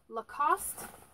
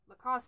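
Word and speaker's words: Lacoste: they missed this too lacost lacost that's how you pronounce it right the lacost like barrel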